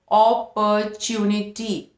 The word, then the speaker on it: opportunity: Fourth is knee, fifth is टी एंड the pronunciation is opportunity, opportunity.